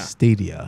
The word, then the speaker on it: Stadia: I'm interested How is in it pronounced? Stadia? Stadia. Yeah, it's Stadia.